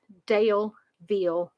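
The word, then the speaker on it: Daleville: going to begin in a little town called dale veal virginia and i'm going to spell it for you guys it's d-a-l-e-v-i-l-l-e dale veal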